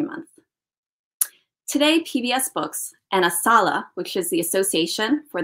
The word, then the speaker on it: ASALH: I'd like to share some information about ASALH. That's how we pronounce our acronym.